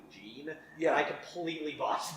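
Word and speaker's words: Jeane: Also, for reference, I think I was mispronouncing it the entire time and saying John. It's actually Gene.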